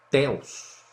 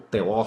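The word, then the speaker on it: θεός: de todas as vezes no grego teus ou teó como alguns preferem a pronúncia tá então meu irmão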